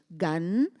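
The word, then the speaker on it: גן: leanon and then G Gan is Garden almost the same pronunciation gun Garden okay locked say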